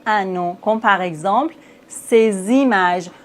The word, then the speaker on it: ces images: nom comme par exemple ces images. Normalement, on ne prononce pas le S dans C, mais ici, on doit faire la liaison.